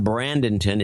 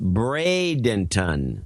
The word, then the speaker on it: Bradenton: And Brandenton is pronounced Bradenton.